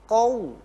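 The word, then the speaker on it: قوم: Perhatikan banyak sekali yang membacanya al-qaum. Jadi pakainya kaf tanpa disadari. Harusnya bacaannya adalah faquti'a dabirul qaum. Qaum pakai qaf dan wawu qaum.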